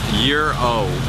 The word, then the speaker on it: gyro: it's called a gyro I say a chicken gyro so I just got schooled on the ways of the Greeks it's a year old but it's spelled gyr oh that makes the no sense gotcha waiting for the bus